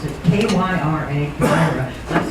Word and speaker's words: Kyra: And Kyra, I will pronounce it K-Y-R-A, Kyra.